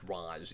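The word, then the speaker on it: Ra's: character that uh it he actually always intended it to be pronounced roz even though uh race became the kind of common and accepted uh version so uh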